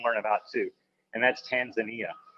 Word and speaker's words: Tanzania: about too, and that's Tanzania. Or as I recently learned, the locals say Tanzania, which I think sounds a lot more fun. So in Tanzania, we deliver